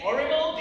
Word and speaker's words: horrible: Did I say horrible? Yes, you did. Don't call me horrible. Horrible. There's an H at the beginning of the word. Pronounce it, girl.